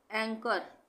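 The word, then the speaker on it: anchor: एंकर, यहाँ है एंकर, एंकर में भी एच साइलेंट है।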